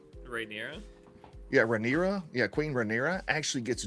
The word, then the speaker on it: Rhaenyra: point that Queen, I'm going to pronounce her name wrong, Queen Rhaenrya? Rhaenyra? Yeah, Rhaenyra.